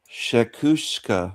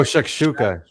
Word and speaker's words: shakshuka: So, if you're reading Shakushka, Shakush, Shakushka, Shak Oh, Shakshuka. Yeah. Yeah.